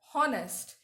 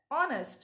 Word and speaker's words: honest: Here H is a consonant, but the H is silent. Yes, when we pronounce the word honest, we don't pronounce it as honest. We pronounce it as honest with the O.